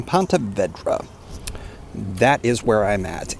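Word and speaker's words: Ponte Vedra: from Pont Vedra Boulevard I must say it again Pont Vedra I've been saying it wrong this whole time Pont Vedra that is where I'm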